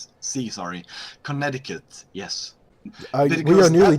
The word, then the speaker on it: Connecticut: It's a lot softer. Yeah, soft Connecticut. Like yeah, Connecticut. Yes, without the hard T sound. Connecticut.